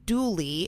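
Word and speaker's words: Dula: A man named Tom Douly, which was spelled D U L A but pronounced Douly in the local dialect, was born in Elkville, North Carolina in 1844. Dulie had a long-standing relationship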